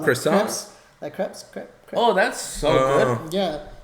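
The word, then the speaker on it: crêpe: Yeah, it's crepes. It's crepe. It's crepe. But here it's pronounced crepes.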